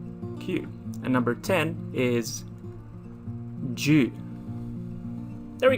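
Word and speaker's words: 十: It's just a cross. It's quite easy. There we go. And it's pronounced as ju, along, ju.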